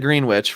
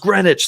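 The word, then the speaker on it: Greenwich: so that was it I said I said green witch right cuz that's just how it looks someone got so mad in the YouTube damn it singer it's green it's it's pronounced grenwich singer damn it I'm like oh I'm sorry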